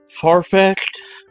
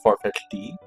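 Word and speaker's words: Farfetch'd: Farfetched or when I was a c a child called it Farfetch D. Uh, because I treated the apostrophe D as something different.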